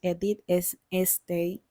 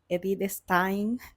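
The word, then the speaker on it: Edith Stein: Y la primera de ellas que que mencionaré es Edit State, Edit Stein, lo pronuncio mal siempre.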